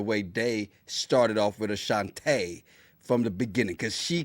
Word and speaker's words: Ashante: Now, we finally got the proper pronunciation, Ashante. Yeah. And she showed up, Ashante, not Ashanti.